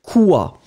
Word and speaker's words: quoi: Alors remember that in fact, the funny thing in French is that you need always to, to connect the Q with the U, even if you don't pronounce the U at all.